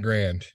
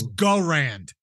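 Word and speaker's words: Garand: I'm choosing the M1 grand most popular uh first off it's go Rand go Ryan Jesus Christ you lose points for mispronunciation all right I'll use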